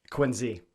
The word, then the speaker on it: Quincy: in connecticut and so even though it's spelled quincy with a c how do you say it properly tim quinn z quincy exactly with the z hello and we'll call